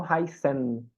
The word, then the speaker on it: heißen: Aí, Heloísa, como você perguntou lá né, do S tendo o som de Z, como aqui a gente tem o SZ, que são dois S's, ele volta para a pronúncia com o som de S mesmo. Então, heißen mesmo.